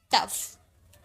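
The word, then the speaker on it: tough: टी ओ यू जी एच जी H last में है तो इसे फ में प्रोनाउंस किए तो हो गया टफ।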